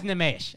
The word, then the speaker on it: Nimesh: Nimesh Patel is my guy, but his name is Nimesh, all right?